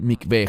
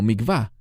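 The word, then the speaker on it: מקווה: Normalmente los mesiánicos que hablan inglés lo pronuncian como mikvah. No es mikvah, es la palabra mikveh.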